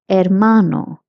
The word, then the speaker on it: hermano: Hermano, brother. Hermana, sister. Notice that H is pronounced as a in Spanish.